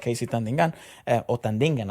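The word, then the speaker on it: KZ Tandingan: singers do this really well as well like Casey tandingan I should say because that's actually how it's pronounced um less is more this is a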